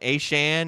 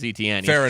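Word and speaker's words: Etienne: Is Sean, you're talking about Deon Deon Aane in Miami. Oh, H A Chan. Is that because remember Travis ETN changed the pronunciation of his name. No longer Travis ETN. He's Travis Aan.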